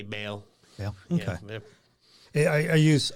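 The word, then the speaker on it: Baal: I pronounce this properly is it ball or bail well I've heard it both ways but I say bail yeah yeah I I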